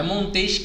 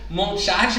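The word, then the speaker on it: Montesquieu: né Quem é E aí lembrando né gente pronúncia não é montejo que eu não é muito triste que é frango ela é parada gringa né francês então monchatte Montez que é a gente tava passando por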